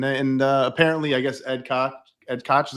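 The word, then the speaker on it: Ed Koch: Uh, that's, uh, and and, uh, apparently, I guess Ed Cotch, Ed Cotch, is how you pronounce his name? Yeah, right. Ed Cotch. Ed Cotch.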